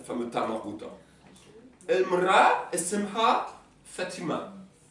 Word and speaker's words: Fatima: Esmha Fatima. Fatma, là il y a marqué Fatma, c'est la prononciation algérienne. le prénom classique c'est Fatima.